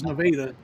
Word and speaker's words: Nevada: You drive into this, it's called Nevada, spelled like Nevada, but it's Nevada.